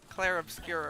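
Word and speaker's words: Clair Obscur: Um, the one that's name I don't think is actually pronounced like it looks. Clare obscure or whatever it's called.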